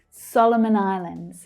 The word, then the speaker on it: Solomon Islands: Solomon Islands. So the stress there is on the first syllable. Solomon. You can see how the other two syllables in Solomon reduce to the schwa. Solomon Islands.